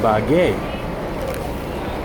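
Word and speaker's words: Ibagué: take the trip to ibague which is actually pronounced to be by gay needs that little mark over there over the last syllable so here I am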